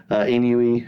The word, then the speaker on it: ennui: She gets four new emotions of envy, embarrassment, ennui, and anxiety. Hold on, pronounce that third one again. Is it ennui? Is that Ennui. ennui? Envy. Ennui. Ennui? Ennui. Oh, ennui? Ennui? Yeah, Two syllables, not ennui.